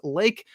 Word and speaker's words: Lake: It's Bakker, and also I've been calling him, and I've been calling him Luke. But the bro's name is Lake. Yeah. So issue a correction across all of our podcasts. Lake Bakker.